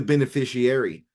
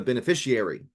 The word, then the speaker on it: beneficiary: who would be the beneficiary, or the beneficiary, put the right emphasis on the right syllable, right?